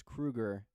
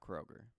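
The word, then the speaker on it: Kroeger: surnames for a year he explained it's Kruger not Kroger don't trust the internet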